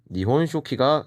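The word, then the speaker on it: 日本書紀: 그 다음에 마지막 오른쪽에 보이는 일본 서기, 니혼쇼키가 되겠습니다.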